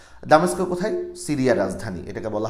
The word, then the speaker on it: দামেস্ক: কথা বলি এখানে উচ্চারণটা যদি এভাবেই লেখা আছে ডেমাসকাস একচুয়ালি কিন্তু এখন এটার উচ্চারণ মোটেই করে না ডেমাসকাসের একচুি উচ্চারণটা হচ্ছে এরকম এখন যেভাবে করে সেটা হচ্ছে দামেস্কো দামেস্কো কোথায় সিরিয়ার রাজধানী এটাকে বলা হয় দামেস্কো তার